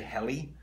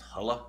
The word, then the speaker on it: Helle: all about I say heli and I think it's pronounced holla or hella in Norwegian and hella is a